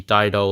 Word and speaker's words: Dido: It's pronounced Dido because of the katakana.